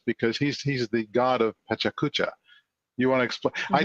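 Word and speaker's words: PechaKucha: Yeah, this is what Steve's alluding to is a presentation format called Pachacucha, and it's pronounced a number of different ways, and nobody judges.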